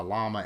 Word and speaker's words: Llama: comment on there that in Spanish, two L's together is pronounced like a Y, but I looked up the English translation to it, and it said llama. So that's what I'm going with.